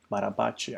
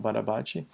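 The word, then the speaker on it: Barabási: Barabachi, I guess, is the correct way of pronouncing his name.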